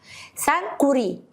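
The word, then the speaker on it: Sankore: هتقول لحد ثانك يو سانكوري سانك كوري هتنطق الكاف مرتين اسمها جمع جامع كان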